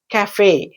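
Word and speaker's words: café: ఫర్ ప్రొనన్సియేషన్ ఇట్ ఇస్ టు be pronounced yes కఫే కఫే ఈ word మనం చాలాసార్లు వింటూ ఉంటాం అడ్వర్టైస్మెంట్ లో కూడా వస్తూఉంటుంది కఫే అని ఇట్ ఇస్ a French word ఇది ఎందుకు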